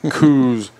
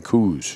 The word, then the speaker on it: Coues: it and guess what here's how it's pronounced and you they actually spell it out you know the pronunciation but you are not gonna convince your hardcore coues deer hunters down here that it is anything other than coos right and and and